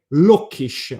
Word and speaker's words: Lucchesi: Lucchesi, very easy. From the city of, these people are Lucchesi. It's like saying Lockish, like English, meaning from the city